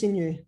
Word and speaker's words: Xinyu: Hey, my name is Xinyu. The X actually pronounced as S.